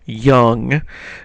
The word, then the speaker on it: Jung: look at is Carl young now it looks like J Jung or something like that but it's actually pronounced young Carl Young and Carl